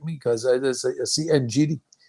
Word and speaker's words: Ngidi: That's how you pronounce his name? Ngidi? Yeah, no, it's fine. It's Yeah, fine. well, if I pronounce it wrong, you have to correct me because I see Ngidi.